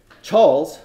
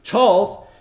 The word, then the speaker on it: Chawls: a mill worker declared, Charles, that's those worker tenements I showed a couple of slides ago, Charles in central Mumbai have been replaced by malls. There it rhymes.